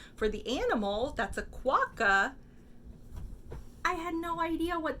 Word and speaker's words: quokka: Okay, this is the one page that I did have to look up because even though I'm given the pronunciation for the animal, that's a quokka, I had no idea what this fruit or food was.